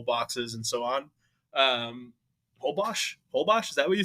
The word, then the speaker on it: Holbox: Um, hobbos. Hobbos, is that what you say? They pronounce it Hobos.